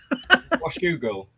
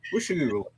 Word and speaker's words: Washougal: Washougal. Is it Washougal? Washougal.